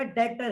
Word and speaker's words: debt: और जिसको मैंने कर्जा दिया है वो मेरा डेटर है। असल में ये DEBT एक वर्ड होता है, डेट, बी साइलेंट है।